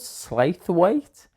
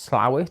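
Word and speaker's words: Slough: what's this place called slwe and my friend Dan looked at me went it's it's pronounced slow I was like well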